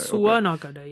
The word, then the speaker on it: Tatsuya Nakadai: How do you pronounce it? Tatsuya Nakadai. Nakadai. Okay. Tatsuya Nakadai.